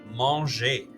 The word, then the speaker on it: mangez: The vous form sounds just like the ER form. They are both pronounced manger. They sound exactly the same.